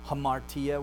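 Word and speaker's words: ἁμαρτία: Rough breathing, so it makes an H sound. Hamartia, we have that H sound at the beginning.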